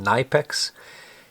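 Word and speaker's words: Knipex: is a german company it's spelled k-n-i-p-e-x but i believe it's pronounced nipex and this is uh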